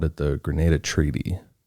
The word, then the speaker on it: Grenada: like, "Oh, it's the the how do you pronounce it? The G Graada Ga Treaty. I've missed an NS. It's the Grenada Treaty."